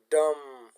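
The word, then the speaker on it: dumb: دوستانو دا د بی توری خاموشه ده، غږ نه ورکوي، نه تلفظ کیږي، لکه بوم. ډم.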